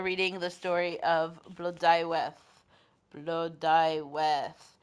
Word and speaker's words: Blodeuwedd: Blodeuwedd. And as you can see, pronunciation is not as written.